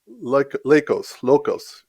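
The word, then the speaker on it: LEUKOS: He is also the editor-in-chief of Locos. Kevin, help me with that. Lucos. How do you say that? Lucos.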